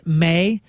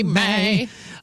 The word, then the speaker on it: me: When Justin Timberlake pronounced me as May in the NSYNC, it's gonna be Be May.